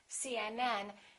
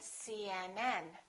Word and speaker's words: CNN: pronounce each letter separately try to say it as one word link it together CNN kind of like this see and and and then join them together CNN and then stress the